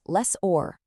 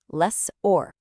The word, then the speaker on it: lessor: Now, this one is pronounced less or the stresses on that or at the end. It's kind of like the or in the word order, or even better, like the sound in landlord.